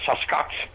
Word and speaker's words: Sasquatch: the hills called the Sasquatch. The best way to pronounce it is take the word bucket, drop the B, and add S-A-S to the beginning, Sasquatch.